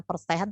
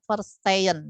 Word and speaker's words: verstehen: Ini dibacanya bukan verstehen tapi verstehen, ya.